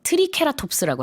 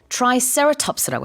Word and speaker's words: Triceratops: 네, 영어로는 트라이세라톱스라고 해요. 발음이 좀 많이 달라요. 트라이는 3개라는 뜻이고 ceratops가 뿔 있는 공룡이라는 뜻이거든요. 그래서 영어로는 sera라는 발음을 쓰고 그 다음에 앞에 try는 이렇게 tree가 아니라 try 이렇게 발음을 하는데 우리 식으로 했을 때는 이제 트리케라톱스라고 하는 그거예요.